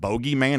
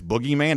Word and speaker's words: boogeyman: So even though the reporter mispronounced it, it's not bogeyman, it's boogeyman, even though she mispronounced